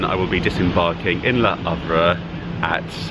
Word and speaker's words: Le Havre: the UK across to Le Havre. I hope I'm pronouncing that correctly. I believe that the H is silent.